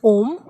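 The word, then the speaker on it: homme: So the examples are, first example is man, and man is om, and it is pronounced as om because H is silent here.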